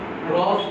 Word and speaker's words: gross: Gross domestic গুডস product. না, Gross. গুডস না, গ্রস Gross domestic product.